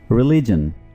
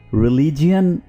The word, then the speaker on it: religion: रिलीजन, इसको आमतौर पर रिलीजियन प्रोनाउंस किया जाता है, जो कि बिल्कुल गलत है। आप इसको क्या प्रोनाउंस करेंगे? रिलीजन, रिलीजन, रिलीजन।